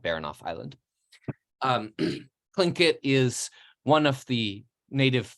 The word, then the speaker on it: Tlingit: this region, and that language and culture is called Tlingit in English, or in the language itself is Tlingit, but people usually pronounce it in English Tlingit.